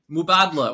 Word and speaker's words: Mubadala: Mubadala, which is how you pronounce it.